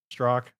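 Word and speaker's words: Strzok: The FBI agent, Strazak, or however you say his damn name, Strock. Is that how you say I it? think it's pronounced Strock.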